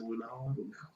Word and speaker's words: Lunala: Was it Lunala? How do you say that? Well, it is Lunala.